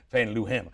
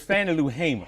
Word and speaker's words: Fannie Lou Hamer: You know, for decades I've pronounced her name Fannie Lou Hamer. And you're still doing it. And I know, and I still do it now. It's Fannie Lou Hamer.